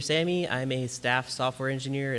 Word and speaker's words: Sami: It's Sami.